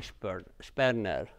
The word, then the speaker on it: Sperner: Actually, some people say Sperner in an English way, but I think the right way is to call everybody by his real original pronunciation, and he was German. So, and in German, SP, when it starts with S and continues with P, then you pronounce it sh, not s.